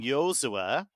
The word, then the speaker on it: Joshua Kimmich: So he's interesting because for example, Kimmich, even in Germany, they wouldn't normally say Joshua, right? But his mum insists on the pronunciation Joshua, which is why everybody says Joshua.